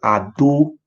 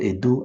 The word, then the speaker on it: Ado: The name is called Ado. It's not Edo. Ado. A-D-O.